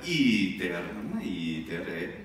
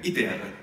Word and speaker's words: iter: E poi un altro, diciamo spesso nella pronuncia scolastica, iter. Breve, breve, poi lunga, iter.